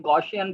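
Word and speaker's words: Gaussian: है गॉसियन blur, basically मैंने लफ्ज़ को गलत प्रोनाउंस कर लिया क्योंकि 1 मिनट की वीडियो बनानी थी, मुझे ज़रा तेज़ी से बोलना था। असल लफ्ज़ है गॉसियन ब्लर।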